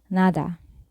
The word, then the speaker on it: nada: which means where and we can also pronounce d as the thou when placed in between vowels in a word say for example nada NADA which means nothing the next letter in the